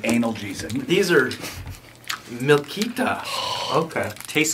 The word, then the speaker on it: analgesic: anal jesic or something is that how you pronounce it no anic doesn't mean that means you take it rect oh where'd it go under your chair oh wait analgesic you're right lemon peel it's anal jesic these are milk okay